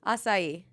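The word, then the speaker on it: açaí: a AI AC a i it's the fruit asai you get it right yay there you go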